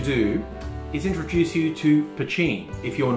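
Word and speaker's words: poitín: spelt either p-o-t-e-e-n or p-o-i-t-i-n either way it's pronounced pachin a lot of people think it's pronounced patine but no i have friends who are actually irish and told me in guelga it is pachin that's how you say it so that's a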